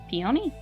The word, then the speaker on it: Peony: Clan cat is named p-e-o-n-y peony I have no idea how to pronounce his name I Googled it it's peony like the flower so peony or peony